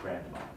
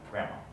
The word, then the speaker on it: grandma: over by a reindeer so the d of grand the d is never is not pronounced grandma grandma and even the tea